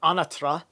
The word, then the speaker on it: Anatra: The operation of the Quantum Businessman and Psionic League, Sean Bond and Chris Anatra, or Anatra, as it's pronounced properly.